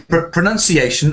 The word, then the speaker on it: pronunciation: this is another thing sometimes a common mistake is to combine those two words pronounce and pronunciation one has an uh and one has an ow so how do you